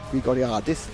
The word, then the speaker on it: Grigoriadis: I was given a cut up in the chat about how to pronounce his surname. It's Grigoriadis.